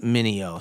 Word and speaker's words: Mineo: me, I'm at Andy Mineo on all socials, TikTok, everywhere your kids are. You know how to use Google as well, so type my name in. It's pronounced Mineo.